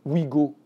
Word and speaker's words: Ouigo: désormais les TGV s'appelleront Ouigo, hein, ou Inouï, et vous entendez bien que le oui qui s'écrit OUI pour faire passer la pilule, c'est le WE en réalité.